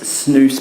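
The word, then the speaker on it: snus: Zen now that is snoo by the way always remember it rhymes with moose um and Zim now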